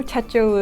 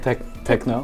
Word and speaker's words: Techo: But then I know techo is also a word that's hard to pronounce in English, you know. And how do you pronounce it? Techo. It's not techno? It's no techno, it's techo.